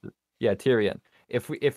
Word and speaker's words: Tyrion: he thinks is kind of legit is the tyranny guy. Tyranny? I don't really know Tyrion? How to pronounce it. Yeah, Tyrion.